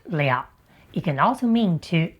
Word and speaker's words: 了: When pronounced le it can also mean to accomplish or to finish.